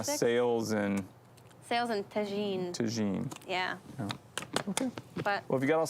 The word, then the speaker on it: tagine: But it's tagine. Tagine? How do you Yeah. spell that?